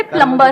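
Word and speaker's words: plumber: सर जैसे प्लम्बर, करते हैं। सब लोग प्लम्बर बोलते हैं हमारे देश में, बढ़िया है यार, क्या दिक्कत है? बी साइलेंट है उसमें।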